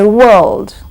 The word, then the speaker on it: world: O go go similarly when you say World there is O and R coming together in that word in spelling in pronunciation it gives you o w w and then you say l and du you don't pronounce r at all you're not saying world